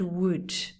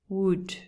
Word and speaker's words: would: but no nothing could would would is the same pronunciation as wood madera it's the same